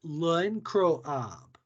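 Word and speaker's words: L'Incroyable: Then our next one is pronounced L'Encroab.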